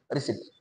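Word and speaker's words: receipt: नंबरचा उत्तर दोन नंबर रिसीप्ट म्हणजे lost the रिसीप्ट given by shopkeeper या शब्दाचे हे करेक्ट स्पेलिंग आहे पण पी चा उच्चार होत नाही असं बरेच शब्द आहेत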